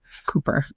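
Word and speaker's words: Cowper: I think it's Winnipe Yeah, she loved I know it's pronounced Cooper.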